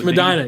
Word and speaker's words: Medina: i i don't know anybody in ohio in medina am i saying it right yes madonna yes yes i knew that was right i